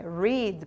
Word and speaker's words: read: contudo a pronúncia muda se na forma normal aqui do presente é read por exemplo I read a book everyday por exemplo eu leio um livro todos os dias no passado I read a book last Week eu li um livro semana passada a pronúncia é igual da cor Red e o particípio que